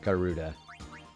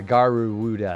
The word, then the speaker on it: Garuda: I think it's the Lamashtu and the Garuda. Sorry, Garuda. I didn't say that right.